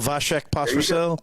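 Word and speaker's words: Vašek Pospíšil: Oh, is it Pospisil? Vasek Pospisil?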